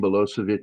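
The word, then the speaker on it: Milošević: It's Milosevic. Milosevic. There's an accent on the C to let you know that it's pronounced that way.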